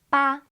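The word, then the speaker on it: 八: Chinese is pronounced as ba and it sounds very similar to the Chinese word fa which means to get rich so now you can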